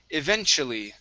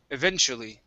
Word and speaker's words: eventually: next is the word eventually okay so the t in this in this word we're going to pronounce that like chu okay so a ch sound eventu eventually eventually good one more time eventually